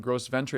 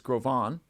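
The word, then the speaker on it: Gros Ventre: mispronounced in times past it's a French name it's not gross Venture it's grovan that may or may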